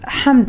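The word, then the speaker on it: حمد: But remember, Yahud is not, Hamd is ha, not ha.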